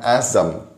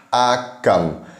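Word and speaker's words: אגם: Kalau Bapak Ibu teman-teman semua melihat di situ bukan Azam tapi Alef Gimel Mem. Jadi bacanya itu adalah Agam. Nah, kalau Azam harusnya itu Zayin, jadinya Azam. Alef, Zayin, Mem, itu bunyinya Azam. Kalau ini Gimel berarti Agam.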